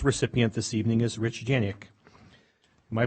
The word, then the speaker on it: Janik: Our first recipient this evening is Rich Janik. Am I pronouncing that correct? Janik?